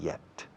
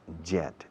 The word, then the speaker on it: yet: Fijaos cómo pronuncio todavía. Yet. No digáis jet. Jet es un avión a reacción. Yet. No soy miembro de la jet todavía. I'm not a member of the jet. Eso sí es con reactor. Jet set yet. Hierba, hielo, hiedra, yet. Yet, hiedra. La pronunciación de la Y en inglés es como la H-I-E en español. Hierba, yet.